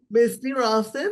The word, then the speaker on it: Misty Ralston: Misty Ralston.